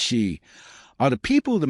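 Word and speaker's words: sídhe: In Irish mythology, for instance, the city, pronounced shei, are the people of the mounds, the ancient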